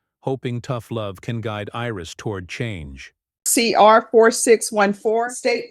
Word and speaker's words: Iris: It's Iris. Iris? Iris in Spanish, but it's Iris.